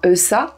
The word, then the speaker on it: Ouessant: L'île d'Ouessant, que l'on prononcera Eussa, est l'île du bout du monde.